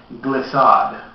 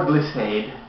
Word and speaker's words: Glissade: This is called Glyad or Glacade. I've actually heard both pronunciations.